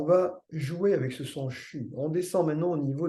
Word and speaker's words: xu: Nous avons à notre disposition un deuxième son, une deuxième vibration pour développer cette ouverture qui est le son CHU, XU, ça s'écrit XU.